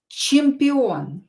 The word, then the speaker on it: чемпион: Чемпион. I will divide it in syllables. Чемпион. Чемпион. O is stressed here, so read it as O, pronounce it as O.